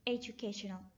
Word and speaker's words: education: first syllable educate and the next four syllabus stress is the third syllable education we should stress the